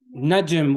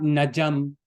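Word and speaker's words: نجم: Najm, what does it mean? Star. Najm. You see, it's not najam. The Jim doesn't have a fatha on it. Okay, it doesn't. It's not najam. It's najm. Najm.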